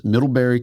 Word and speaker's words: Middlebury: snowboard hall of fame, doctor of humane letters, Middleberry College. Is that am I pronouncing that right?